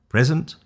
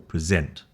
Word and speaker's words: present: Okay, so we learned that word stress emphasis changes meaning present or present.